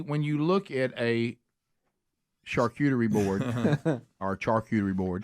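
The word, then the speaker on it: charcuterie: you look at a shuty board or Charter board how do you say that somebody that really knows like an expert in food it is shark shark cuy okay shark cutery so when you look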